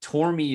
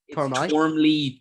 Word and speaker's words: Tormey: Ironically, Tormey is said wrong here. No way. And not outside of Ireland. How could you mispronounce it? Tormey? Tormley, Tormby, Thorm, like every gross variation of the name.